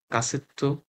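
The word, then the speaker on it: カセット: আমি বলছি তসু থাকলে তারপরের ওয়ার্ডটা দুই গুণ উচ্চারণ। তহলে ক্যাসেট কাসেত কাসেত তেপু ঠিক আছে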